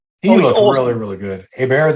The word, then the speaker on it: Hebert: Hebert, they pronounce it Hebert. Shannon Day did, but I graduated with a kid named with that spelling. We called him Hebert, Mark Hebert.